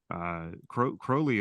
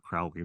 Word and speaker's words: Crowley: So Crowley, and it's Crowley, by the way, rhymes with holy, not Crowley. That rhymes with sorry.